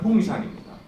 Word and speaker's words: Hongshan: 중국 발음은 홍샨입니다.